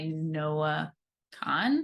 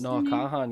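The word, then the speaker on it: Noah Kahan: is stick season by Noah Khan I think is how you pronounce no Kahan yeah I know a few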